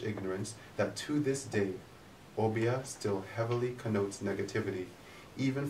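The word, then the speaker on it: Obeah: Pronounced Obia, the term for black magic was recorded in the Caribbean sometime between 1710 and 1712 on the island of Barbados.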